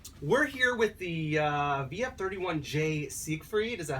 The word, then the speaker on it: Siegfried: We're here with the VF-31J Siegfried, is that how you pronounce it?